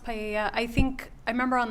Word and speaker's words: paella: I'm not sure if that's how you pronounce it at the party. It's pronounced paella.